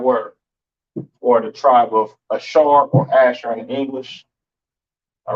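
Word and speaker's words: אשר: Pronounce Ashar in the Hebrew, Ashar.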